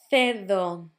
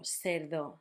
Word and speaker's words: cerdo: Casa, barco, cuna, with the sound K, cerdo, cine, or cerdo, cine, with the sound Th, or S, and queso, quince, with that sound K.